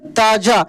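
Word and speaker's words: ताज़ा: ऐसी ताजा क्या पढ़ेंगे ताजा ध्यान दीजिएगा जब यह बिंदी किसी अक्षर के नीचे लग जाए ना तो उस अक्षर का उच्चारण भारीपन के साथ होता है ताजा ताजा होले सुने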